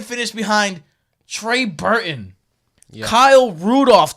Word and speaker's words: Rudolph: behind Trey Burton Kyle Rudolph don't pronounce the L blah David Joe COO